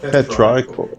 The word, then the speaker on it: petrichor: Petrichor. No, petrichor. I mean, it changes vowel sounds when it isn't a different word. Combined. It's Petra.